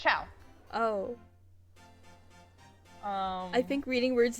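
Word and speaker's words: ciao: Yeah, it's Chow.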